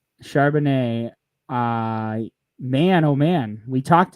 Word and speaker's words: Charbonnet: I did hear someone say his name on the radio, and I believe it was Charbonnet. Charbonnet.